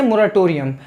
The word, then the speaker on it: moratorium: इसको पढ़ेंगे कैसे, मोराटोरियम। अब इसका मतलब होता है, पहले तो इसकी स्पेलिंग जान लेते हैं, MORATORIUM।